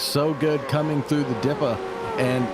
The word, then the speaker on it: Dipper: It's not the Dipper, it's the Dippa, as they say down under.